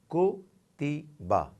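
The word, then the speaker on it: كُتِبَ: So we will pronounce it as, on ka it's dhamma, the equivalent of U, ko. Then ta has kasra zer, the equivalent of I, ti. And ba has fatha, which is the equivalent of a. So, kutiba, kutiba, kutiba.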